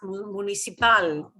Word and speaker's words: municipal: If you heard people talk about municipal, it'll be pronounced municipal.